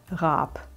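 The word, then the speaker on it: Raap: spoken in german and it is a soft r and the two a's elongate the vowel and it is pronounced rap and finally do you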